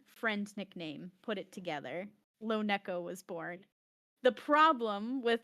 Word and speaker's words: LoNeko: The way people pronounce it is just, and I understand it, it's because of the Americanized vowel sounds. That when you see a vowel followed by a consonant followed by another vowel, you're supposed to elongate the first vowel sound, and that's why people say, not Yeah. But Yeah. the correct pronunciation, if we're thinking about the way my name has come about, is LoNeko. But I just don't care.